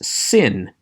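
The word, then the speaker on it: שׂין: indicate two different sounds the one with the dot over the left hand side is sin pronounced s the one with the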